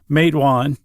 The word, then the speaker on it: Matewan: If you want to remember how to pronounce matewan, it's a small small town in southern West Virginia. Uhhuh. You just say, "Hey, who's that guy from West Virginia over there?" You say, "Who him?